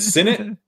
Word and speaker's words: Sinnott: Because I pronounced it correctly? Yeah, straight. Well done. Is it Sinnott?